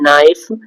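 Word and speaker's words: knife: के साइलेंट हो, तो ये वर्ड है नाइफ, नॉक, नाइट, नॉलेज, इन सब में के साइलेंट है क्योंकि के को पढ़ा नहीं जाता है।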